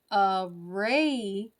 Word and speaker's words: Aradia: you were paying attention, but Aradia and Naware both have a ray in them, right? Not the same spelling. One is R-A, the other one's R-E, but that's how those words are pronounced.